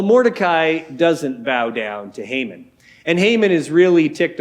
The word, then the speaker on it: Haman: else who's above Mordecai a guy named Haman or perhaps Haman might be a better way to pronounce it Haman is like the